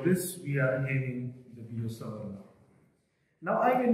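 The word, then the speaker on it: Biot–Savart: analogous to that one in magnetostatic is the Biot-Savart law. It is pronounced as Biot-Savart. If you go to university physics, then it has been pronounced there as well. It is to be pronounced as Biot-Savart, not as Biot-Savart.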